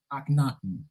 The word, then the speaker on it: Akhenaten: Akhenaten. It ain't that. You can spell it like that too, and it'll come up.